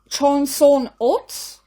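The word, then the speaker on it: Chosŏn-ot: The arch consisted of 2 Korean women in traditional dress, and the pronunciation for that is Chonson-ot, symbolizing the North and the South, leaning forward to jointly uphold a spear bearing a map of a reunified Korea.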